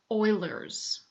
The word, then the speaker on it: Euler: Euler's formula it looks like Euler but it's pronounced Euler's and euler was a mathematician who figured out